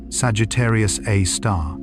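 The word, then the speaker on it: Sagittarius A*: Astronomers call it Sagittarius A, usually pronounced Sagittarius A star.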